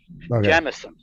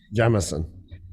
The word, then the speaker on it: Jameson: was yeah that was you have to learn to say it right okay jemison jemison that's it all right that's the proper way to say i understand you went